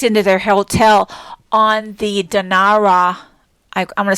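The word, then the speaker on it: Denarau: year and checked into their hotel on the dinara i'm going to spell it d-e-n-a-r-a-u island which is west of the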